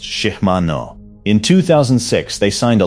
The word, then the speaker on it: Shimano: Power Pro is made by Innovative Textiles in Grand Junction, Colorado, founded in 1992, and now a division of Shimano, pronounced Shimano.